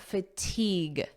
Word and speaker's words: fatigue: When your brain feels like this, notice the pronunciation here. Fatigue EEG fatigue Repeat after me Fatigue.